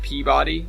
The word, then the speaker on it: Peabody: away what's it called it's built Peabody but everyone pronounces it Peabody like it was like you wear D and I was like